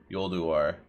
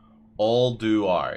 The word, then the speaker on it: Ulduar: I've always pronounced it Yolduar. I mostly do skips because I have like 55 tunes. Nice, Nardo. Ulduar. I think Bran says it. I'm not sure. Ulduar, yeah. That's how you pronounce it.